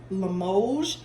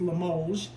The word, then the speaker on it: Limoges: And Limoges is spelled Limoges, and it's pronounced Limoges. It's French, I think. It's French China, and so the S is silent, even though it's spelled Limoges.